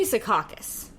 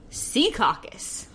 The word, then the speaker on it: Secaucus: so I say Secaucus. People from there go Secaucus. Secaucus. And I feel off, but I feel like that feels very fake to me.